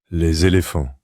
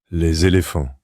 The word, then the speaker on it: Les Éléphants: Leilif. Notice the smooth linking sound between the two words where the normally silent S is pronounced like a Z to connect with the following vowel. Leilif.